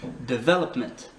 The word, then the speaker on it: development: Ça se dit development. Development. Ok? Development. Development. Donc on accentue le V.